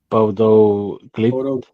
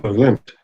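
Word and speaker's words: Bodø/Glimt: But how do you pronounce the team they're playing? Bodo Glimt. Bodo Yeah, Glimt. Bodo Glimt.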